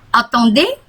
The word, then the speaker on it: attendez: Attendez un instant, tunggu sebentar, ya. Attendez, Z-nya nggak dibaca, attendez.